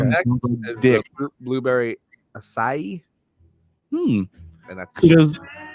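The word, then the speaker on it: açaí: the blueberry acai, and that's Kudos to you for pronouncing acai right.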